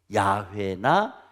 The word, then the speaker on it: 야훼: 야훼나 여호와나 같은 말입니다. 같은 말. 그런데 히브리 원어로 발음하게 되면 야훼라고 하는 겁니다.